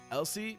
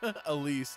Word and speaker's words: Elise: Elsie not how you say her name. Oh Elise. Yeah.